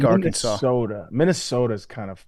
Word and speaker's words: Arkansas: one I don't like Arkansas either you don't like Arkansas don't like the way spelled it's uh it's too close to Kansas but pronounced totally different why this is Kansas